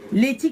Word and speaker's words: Leythee: Letty, comment ça s'écrit?